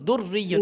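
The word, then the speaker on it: دُرِّيٌّ: দাল র পেশ দূর, র ইয়া জের রি, রতে রয়ের দ্বিতীয় উচ্চারণটা গিয়ে ইয়াকে ধরছে, বুঝতে পেরেছেন? না হলে ইয়া কার সাথে মিলে উচ্চারণ হবে, তাই না? র ইয়া জের রি, ইয়া দুই পেশ ইউন, দূর রি ইউন, এইভাবে বানানটা হবে।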